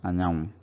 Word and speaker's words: anyanwụ: Sun is anya anwụ, so it becomes anyanwụ.